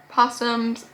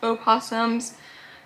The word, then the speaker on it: opossum: three spot we have possums o possums the correct way to say it is opossums cuz possums and opossums are different animals you guys don't care